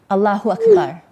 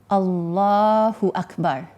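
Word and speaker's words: الله أكبر: The first thing, the translation is Allah is greater, or Allah is the greatest, and the pronunciation of the Arabic is Allahu Akbar. Allahu Akbar.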